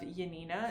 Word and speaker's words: Janina: by the name of Janina, is how I would pronounce it. This is how it's spelled, but since it is Polish, I think the J turns into a Y.